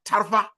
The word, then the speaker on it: Tarfa: But you know, because it's pronounced for my village, it's pronounced Tarfa. So the end has to go high. But nobody can know that. So why would I get offended because someone called it Tafa or called it Tarfa?